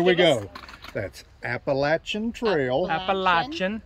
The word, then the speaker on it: Appalachian: cotton okay okay here we go that's appalachian trail appalachian no appalachian appalachian appalachian appalachian how many syllables you speak english appalachian appalachian appalachian for syllables no because a lot of